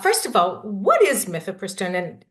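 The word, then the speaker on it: mifepristone: of all what is myth prone and am I saying that right yeah thanks so you are saying it right um myph pistone also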